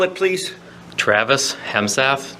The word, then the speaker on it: Hemesath: and have a seat state your name and spell it please Travis hemsa t r a v i s h e